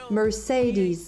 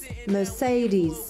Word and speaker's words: Mercedes: décortiquer un par un le premier e ça va plutôt être un e me le deuxième ça va être plutôt un E comme le verbe say mer et enfin le dernier se prononcera is Mercedes Mercedes voilà maintenant